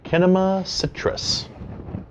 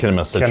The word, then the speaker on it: Kinema Citrus: Yeah, it's Kinema Citrus. Kinema Citrus. Or yeah, Kinema, Cinema. It's depends on Cinema, but spelled with a K.